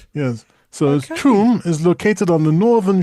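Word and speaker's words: Cham: I think this is the one person in How do you think you pronounce this? C H A M. C H A M. Yeah. Sham. Well, it's Chum. Chum. Don't ask me why. It's Chum. In Zug.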